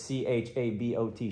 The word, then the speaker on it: Chabot: at what's the college chabot college chabot community college with the boys yeah silent t it's c-h-a-b-o-t chabot i'm the boy we're